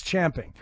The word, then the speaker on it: champing: at the bit yeah you're just champing Shane it's champing you're so busy champing at the bit to get in there and and say something that that that you said it wrong am I the only